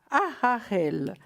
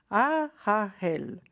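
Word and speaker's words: Haaiel: Je vais vous essayer de vous le prononcer correctement. C'est Aharel. Alors, je vous l'épelle H-A, H-A, H-E-L. Hein? Aharel.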